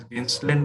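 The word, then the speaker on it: Gaenslen: ठीक है, जेंसलेन टेस्ट, और I should pronounce it एज जेंसलेन test.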